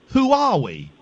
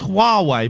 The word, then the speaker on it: Huawei: Did you just call them Who are we? Yeah. Well, it is hard to pronounce though. But I'm sure there's a war. I think it's Yes, I think it's Huawei. But who are we is is is just as good.